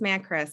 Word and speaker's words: Macris: that yeah it's me it's pronounced matt chris it's greek it used to be